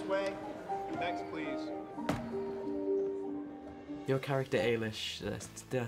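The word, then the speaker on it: Eilis: please step this way next please your character Alish did I say that right you did and some people haven't pronounced it right at all so well done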